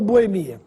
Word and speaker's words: Boemia: mais usada sem acento Boêmia ou Boemia essa palavra pode ser escrita com ou sem acento ambas as formas são corretas Mas no caso temos